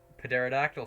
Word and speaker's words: pterodactyl: Pterodactyl soar. Oh, maybe they do. But there. No. Oh, What? sorry, pterodactyl. The P is I silent, was my friends. The P is silent.